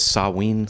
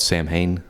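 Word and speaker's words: Samhain: you correctly pronounce that I believe the correct pronunciation is saween sawe that's what I've heard but people call it Sam Hayne mhm and uh his philosophies and teachings really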